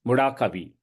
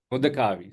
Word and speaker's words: Mudakavi: Did I get it right? Yeah. Mudakavi, sorry. Yeah, Yeah, that's there you go. yeah, That's the Indian versus first generation Indian versus second generation yeah. American pronunciation.